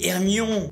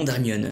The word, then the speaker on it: Hermione: Il ne cessait de l’appeler « Herrrrmion ». – Her-mio-ne, dit-elle en articulant lentement et distinctement.